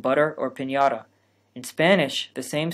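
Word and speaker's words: piñata: of the gutter so if you want to pronounce the word pinata in spanish you need to make three changes the first consonant should be a play in p the first vowel should be tense and the final consonant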